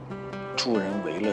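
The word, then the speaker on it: 助人为乐: 这么多年，我突然发现 “ 助人为乐 ” 这个词，我念错了很多年。“ 为 ” 字应该念成 4 声，帮助别人是为了让自己快乐。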